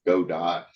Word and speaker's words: Godot: Godot game engine, or you'll hear it pronounced lots of different ways. I usually say Godot, Go Dot. It was made by Argentinians, so originally, so it should probably be the Spanish pronunciation, which I guess would be Godot, but nobody really says it that way because it doesn't flow off the tongue very well.